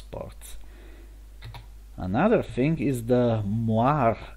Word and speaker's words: Moiré: Another thing is the Moiré error, which is pronounced like this because it's a French word.